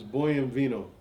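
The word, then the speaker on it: Buon Vino: No, it's Boy and Vino. It's Italian for fine wine.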